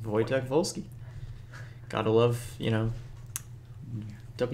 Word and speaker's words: Wojtek Wolski: awesome name cuz everything's at w but it's pronounced wojtek wolski gotta love you know don't use our views